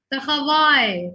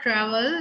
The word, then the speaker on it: travail: Takhawai. Takhawai means the work, come. Takhawai. Yeah, it's not travel, it's takhawai, come.